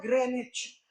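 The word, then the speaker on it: Greenwich: अबकि London में एक शहर है ग्रीनविच। असल में उसका उच्चारण होता है ग्रेनिविच। ग्रीनविच नहीं होता उच्चारण। इन किताबों में ग्रीनविच लिखा रहता है। लेकिन उसका सही उच्चारण होता है ग्रेनिच।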